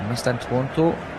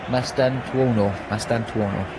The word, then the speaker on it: Mastantuono: Mastantuono is a very good player. I'm saying his name wrong. Mastantuono.